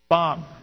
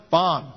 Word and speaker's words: BOM: these are the terms bomb now don't say b-o-m all right if that'll label you